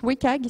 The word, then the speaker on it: WCAG: Donc, c'est Web Content Accessibility Guidelines, qui se prononce WCAG, si vous entendez WCAG, c'est la même chose, qui a été traduit,